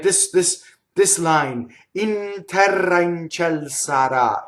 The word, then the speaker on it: terra: This line, in terra in ciel sarà, it's that bouncy and beautiful and bright and also dark at the same time. In terra in ciel sarà. Okay, so notice terra, rolled R, in ciel.